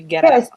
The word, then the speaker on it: Guerrero: let's see is it is it pronounced ghetto it's it's supposed to be ghetto yes i mean it's with the with the rolled rs but yeah yeah that's